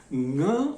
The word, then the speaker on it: ङ: ङ उसका उच्चारण है। संगीत में संग के बाद ध्वनि जो आ रही है उस ङ को अगर आप पकड़ें तो यही संगीत ङ।